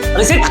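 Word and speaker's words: receipt: ಮಾಡ್ತೀವಿ ಬ್ರೇಕ್ಫಾಸ್ಟ್ ಅಂತ ಏನಂತೀವಿ ನಾವು ಬ್ರೇಕ್ಫಾಸ್ಟ್ ತಪ್ಪು ಸರಿಯಾದ ಉಚ್ಚಾರಣೆ ಏನು ಬ್ರೇಕ್ಫಾಸ್ಟ್ ಏನದು ಬ್ರೇಕ್ಫಾಸ್ಟ್ ನೆಕ್ಸ್ಟ್ ನೋಡಿ ರಿಸಿಪ್ಟ್ ಹೌದಾ ಅದನ್ನ ಯಾವ ರೀತಿ ಓದಬೇಕು ರಿಸಿಪ್ಟ್ ಅಂತ ಓದಬೇಕು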